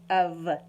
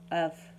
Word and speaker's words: of: it actually sound and you would say of not off or off the way that it sounds when they look at